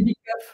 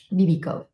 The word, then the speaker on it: Bibikow: Bibikow, mais on ne peut pas le savoir. C'est écrit W, mais ça se prononce comme un F. Ah, Bibikow.